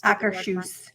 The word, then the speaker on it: Akershus: What's the proper way of pronouncing this? Akershus.